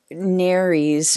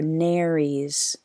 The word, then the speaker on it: nares: pair of nares or narys rhymes with caries i just learned something i've been pronouncing that wrong on the top of her snout so narys after she passes galena